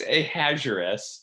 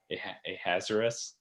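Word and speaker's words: Ahasuerus: called him the king i think it's a hazaris but i don't know how to pronounce it it's quite the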